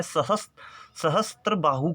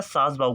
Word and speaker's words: सहस्त्र बाहु: क्या करते हैं कि एक्चुअल में इस मंदिर का नाम है सहस्त्र बाहु का मंदिर।